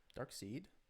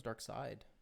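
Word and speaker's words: Darkseid: DC villain dark seed dark seed right that's how you say it I thought it was dark side I always thought it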